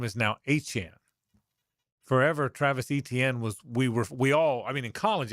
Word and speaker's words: Etienne: And now we learned that the proper pronunciation of the name is Etienne, just like the running back in Miami. It's the phonetic is A-CHAN.